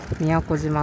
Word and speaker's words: 都島: Ward office جاؤں گا۔ مجھے یقین نہیں ہے کہ Miyakojima کا تلفظ کیسے کریں۔ اس کا تلفظ "میاکوجیما" ہے۔ دوپہر کے 2:31 بجے ہیں۔